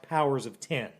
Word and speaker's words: Powers of X: called Powers of X, which is actually pronounced Powers of 10.